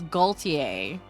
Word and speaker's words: Gaultier: It was Gaultier. As in Cartier.